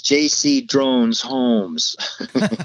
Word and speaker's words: JC Drones Homes: I actually have a website for just that, and it's called, it rhymes with ET Phones Home. It's JC Drones Homes.